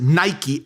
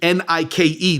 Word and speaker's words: Nike: with the word that we would spell it as Nike, Nike. That's a Greek word, kind of sounds like footwear.